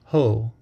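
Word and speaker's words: 法: The Chinese character for dharma is pronounced ho in Japanese.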